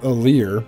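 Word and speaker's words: Alear: we have a lear i always want to call him allery and for some reason i want to say it wrong but we have aalir who is a main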